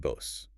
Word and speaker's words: Bose: No, in both cases, it's a voiced Z sound. And notice the long vowel sounds, too. Levis and Bose.